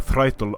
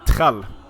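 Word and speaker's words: þræll: So, Threitel is how you pronounce the thrall, or if you want to go with the modern pronunciation, it's going to be trell.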